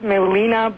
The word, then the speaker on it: Melina: with us right now Melinda welcome good afternoon thank you U Melinda where are you are you are you an American uh of course I'm American my name pronounced Melina oh okay I've still missed